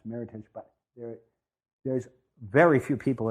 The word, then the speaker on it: Meritage: pronounced Meritage, it's pronounced Meritage because it's an American term. It came out of a contest that happened in California, and it's a combination of merit and heritage. So it's pronounced Meritage, but there's very few